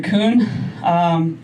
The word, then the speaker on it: Coon: And then, my last name, Kun. It's spelled C-O-O-N, so it's the bad spelling of Kun, really.